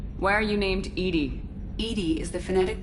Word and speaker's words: EDI: a specific inquiry why are you named edie edie is the phonetic pronunciation of e d that is an acronym